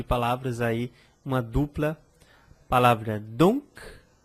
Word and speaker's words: donc: Outras palavras, outro conjunto de palavras aí, uma dupla palavra donc e a palavra parc. Então, com palavras com C, algumas palavras que são finalizadas com C, eu também pronuncio parc, donc.